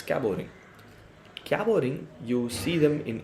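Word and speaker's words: Cabot ring: we call this a cabo ring right cabot or cabo t is silent it's caboring caboring you see them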